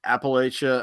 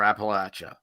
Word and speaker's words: Appalachia: so it's funny you there's like two ways of saying it's like appalachia or appalachia and my wife got